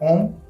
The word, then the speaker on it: Om: you will be chanting Om in a very perfect manner. Start like this. Always remember 33% 33% O and 33% M. When the time will come, when the pronunciation will be absolute Om, and that Om sound